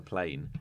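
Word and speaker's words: Playne: taking place on a plane and then terrorist attack and it's called plane but it's spelled p-l-a-y-n-e playing yeah um yeah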